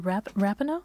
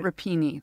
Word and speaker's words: Rapinoe: I think it's a Rapinoe. I say Rapinoe, but I heard someone introduce her as Rapinoe, so... It's not Rapini, that we know that's a No.